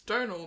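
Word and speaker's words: Domhnall: It's Donald. That's how you say it's Donald.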